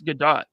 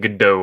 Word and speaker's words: Gadot: She's like, it's Gadot. And well, it's been saying Godot for years. She's like, it's Gadot. You not see the T at the end?